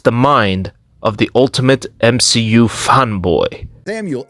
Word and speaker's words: MCU: such thing as the M she you it's pronounced m c u Marvel Cinematic Universe not MCU like you